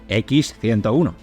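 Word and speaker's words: Х-101: dos maneras Pues porque el nombre original en ruso es x101 pero la x en cirílico tiene el mismo sonido que la J en castellano es como si fuese la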